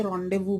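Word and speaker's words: rendezvous: अब word रेंडेजवस means, रेंडेजवस को वैसे रॉन्डेवू बोलते हैं बोलचाल की भाषा में।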